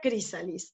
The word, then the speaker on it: chrysalis: Se pronuncia crisalis, ¿ok?